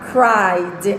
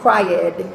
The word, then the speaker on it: cried: se escribe con Ed y se pronuncia cried no ced lo más importante de